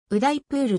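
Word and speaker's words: ウダイプール: は約 60万人ウダイプールと英語風に発音されることもあるごはん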